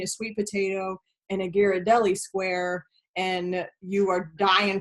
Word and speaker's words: Ghirardelli: A dark chocolate square, like one of those, I don't pronounce it right, but those Ghirardelli squares.